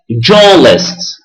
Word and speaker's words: journalist: attention here you've got R is not pronounced it is a silent R we say journalist Baker engineer cook Taxi